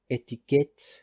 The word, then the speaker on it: étiquette: For example, in French, these are pronounced as information, étiquette, dossier, restaurant, que.